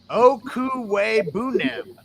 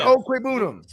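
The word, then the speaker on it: Okwuegbunam: And Chase, he put the pronunciation in. Okuwe Bunem. Shout out to Chase. Albert Okwebunam.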